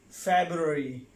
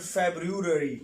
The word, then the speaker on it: February: The name of the month is February, right? February, not February, right?